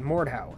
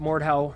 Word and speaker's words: Mordhau: I think that's how it's said, Mordhau, M-O-R-D-H-A-U.